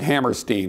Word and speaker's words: Hammerstein: Hammerstein, of course, he actually pronounced it Hammerstein.